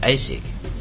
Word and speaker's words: ASIC: The ASIC chip, pronounced ASIC, is a chip that was often used by hardware vendors at the time for a particular application or shortcut.